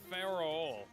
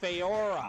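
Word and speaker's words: Faora: What about Pharaoh? Who? Pharaoh. Who? What if she works for General Zod? Oh, Feora.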